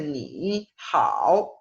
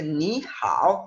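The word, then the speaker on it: 你好: Entonces, esto no se pronuncia ni hao, sino realmente se pronuncia ni hao, o sea, el ni hay que pronunciarlo como un segundo tono.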